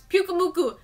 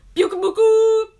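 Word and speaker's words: Pyukumuku: This is how you pronounce Pukumuku. Pukumuku!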